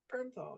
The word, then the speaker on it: Bernthal: of Ben Affleck and these two characters, John Bernthal. Yeah, that's how you pronounce his last name, right? Bernthal.